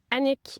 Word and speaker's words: Annick: So, I'm Anik. Uh, people always struggle to say my name, especially Englishspeaking uh, people. I like to say Titanic, Panic, Unique.